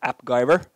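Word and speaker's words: AppGyver: been a CTO of app Guyver rhymes with MacGyver do you know that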